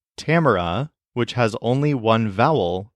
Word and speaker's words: Tamara: A repeated three times in English Tamra is pronounced with all three of those vowels sounding different from each other but in Spanish this is Tamar with all of the vowels sounding exactly the same now try out the